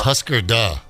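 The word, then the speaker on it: Hüsker Dü: words means do you remember I think it's pronounced Husker Du oh my goding but I'm a mats fan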